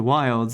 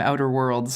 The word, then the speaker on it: Outer Wilds: and play some Outer Wilds, and the game's fun. I had a good time with that game. I just let you do that entire little monologue there, letting you mispronounce the name Outer Worlds.